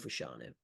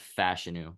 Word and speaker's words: Fashanu: obvious pick is Olu fashanu um it's actually pronounced fashion by the way I fash yeah really